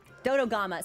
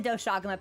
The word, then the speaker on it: Dodogama: Dodgama feed on dodogama. Sorry, I do the doshagama pronunciation every so often.